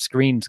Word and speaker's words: Skrine: I'm not 100% confident that Screen's going to be. If I said the other Skrine, I apologize. I'm still getting used to that one. It reads as Skrine, but it's pronounced as Screen.